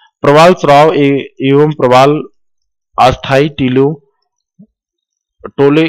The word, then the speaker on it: अस्थियां: ये प्रवाल अस्थियां टीले के रूप में निक्षेपित हो जाते हैं। ये अस्थायी नहीं लिखा है, अस्थियां है, ये गलत प्रोनाउंसिएशन हो रहा।